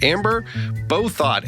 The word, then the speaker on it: Bouthot: I'm Anthony Giuliano, and my guest this week is Amber Bouthot. Amber, did I pronounce that correctly?